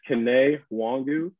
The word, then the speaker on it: Kene Nwangwu: so uh pronunciation is kane wangu and uh you know i'm